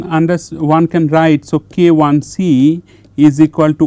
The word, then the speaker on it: KIC: pronounce this as a kic so kic is wrong so you have to pronounce it as k one c because one has a specific meaning one mean this is